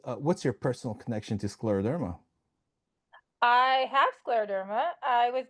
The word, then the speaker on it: scleroderma: It is a hard word to say, and a lot of people pronounce it differently, but it's still scleroderma.